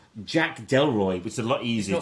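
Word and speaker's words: Delroy: he's incredible he plays a chap called Jack deloy which is a lot easier to pronounce it's not pronounced dely no deloy deloy deloy deloy this because he have a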